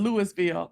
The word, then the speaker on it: Louisville: idea okay yes so in mississippi they call it lewisville now i can see